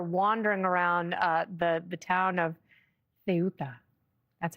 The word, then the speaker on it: Ceuta: and now they're wandering around the town of Ceuta.